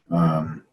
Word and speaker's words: Qdoba: I've got my, I don't know if you guys can see this, Qdoba.